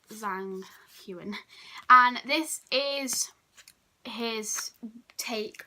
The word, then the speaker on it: Zhang Huan: We then have an artist research, which is, I think, Zhang Hu. I don't know how you say his name. Zhang Huan. Like, yeah, Zhang Huan.